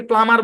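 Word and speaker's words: plumber: তাহলে যে গ্যাসের পাইপের মিস্ত্রি তাকে প্লামার বলে। তো মূল শব্দের ভিতরেই যেহেতু বিটা সাইলেন্ট ছিল, এই কারণে পুরো শব্দের মধ্যে বিটা সাইলেন্ট।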